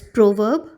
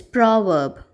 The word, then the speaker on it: proverb: So again, the British pronunciation which we follow is proverb, R not pronounced, and the American pronunciation is proverb.